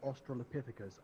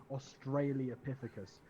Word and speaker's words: Australopithecus: back on and he he always pronounces Australopithecus as Austrailia Pittacus pisses me off so I sympathize with